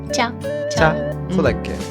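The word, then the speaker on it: 짠: "Jjan"? Jjan!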